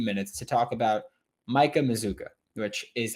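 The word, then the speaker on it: Mazzccua: for a few minutes to talk about Micah mizuka which is how it's pronounced it's spelled mascua but it's pronounced mizuka and I think that he is somewhat overlooked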